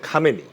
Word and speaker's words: খামেনী: হচ্ছে খোমেনী আরেকজন হচ্ছে খামেনী খোমেনী হচ্ছেন এর আগে যিনি ছিলেন আয়াতুল্লাহ রুহুল্লাহ খোমেনী আর ইনি হচ্ছে আলী খামেনী ইনি হচ্ছে উনার আত্মীয় না মানে উনার শিষ্য ছিলেন ওখান থেকে আসছে খুব ছোট্ট একটা উচ্চারণগত পার্থক্য কিন্তু এটা মানে মানে অনেকেই ধরতে পারে না।